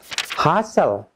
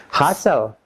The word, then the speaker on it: hustle: Number 6, silent T. Teman-teman, T dengan L, TL, T is not pronounced. TL, T is not pronounced. T-nya tidak dibaca. For example, repeat after me. Hustle, hustle.